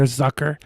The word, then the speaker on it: Zucker: ruin our joke okay z in german is pronounced t.s stop being such a